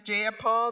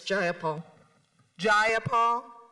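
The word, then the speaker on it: Jayapal: you agree with Miss jaia Paul that there was no takeover it was just if you're going to say my name please say it right it's jaia jaul do you would you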